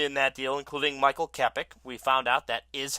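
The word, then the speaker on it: Kopech: A couple of other prospects included in that deal, including Michael Kepik. We found out that is how it's pronounced.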